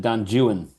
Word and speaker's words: Don Juan: Well, I have no idea if other English people, but Byron very famously pronounced it Don Juan. That's right. That's Byron's English. And that is the author's preference. And so that's how we say it.